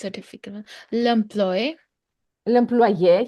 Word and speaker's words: l'employé: L'employé, L'employé, here you see, we have an accent aigu, so we need to pronounce it. L'employé.